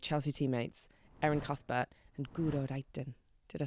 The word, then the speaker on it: Guro Reiten: GURO REITEN.